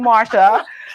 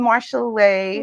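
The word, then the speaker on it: Marshalee: your name correctly because I've been calling you Marcia please help me welcome Marshall Lee Marshall Lee Marshall Lee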